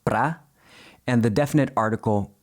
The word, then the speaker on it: para: Pro is just a spoken contraction of para, which is usually pronounced pra, and the definite article u, literally to the.